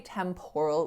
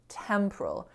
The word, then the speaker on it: temporal: to be the case so we don't say temporal we say temporal temporal and if you think